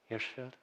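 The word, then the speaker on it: Hirshfield: How do we pronounce this? Hirschfeld.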